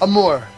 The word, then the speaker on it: Amour: Is it Amore? Next, what? Is it Amore? Is that maybe what it is? Amour. It's spelled Amour. Amour.